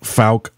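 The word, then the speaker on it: Fouke: away from Falk I I always in my head think I'm saying that wrong cuz it it's it's a weirdly spelled um town but Falk Arkansas right is that how you say it right it it was named after a guy named George Falk so that's where the name came from but yeah you're saying it right okay good good and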